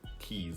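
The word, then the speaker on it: cayes: They're called keys, like the Florida Keys. But it's not spelled keys like car keys, like K-E-Y-S. It's spelled C-A-Y-E-S.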